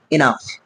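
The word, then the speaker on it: enough: ইউ জি এইচ ইনাফ এই যে জিএস টা আছে এটাকে কিন্তু আমাদের ফতে হচ্ছে এনাফ অনেক সময় আমরা এই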